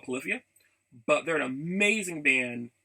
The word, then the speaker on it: Polyphia: I'm understanding, because I pronounce things based on how I read it. So I call them Polyphilia. I hear they're called Polyphia, but they're an amazing band that doesn't do vocals.